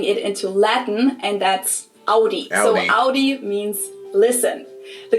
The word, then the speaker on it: Audi: Most Americans that I know pronounce it like I just said it, Audi. Yep. In German, we say Audi.